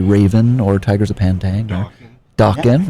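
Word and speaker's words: Dokken: Dawkin rhymes with Rockin', Joel.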